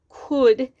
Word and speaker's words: could: They could, it's a harder word, could has a silent L, and the OU work together to make a sound.